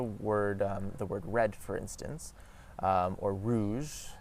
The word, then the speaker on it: rouge: So rouge, rouge, rouge, rouge, rouge, rouge. So you see how my R transformed very quickly from rouge to rouge.